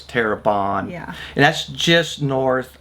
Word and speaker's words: Terrebonne: We also went to a little town called Terrebonne. That's how we were told to pronounce. We all kept saying Terrebonne. Yeah, but we were saying Terrebonne. One of the we were locals told- said it was Terrebonne.